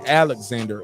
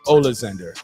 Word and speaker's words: Oleksandr: he looked like um the american version of it would be alexander ulster um but it's ola zinder you know i'm saying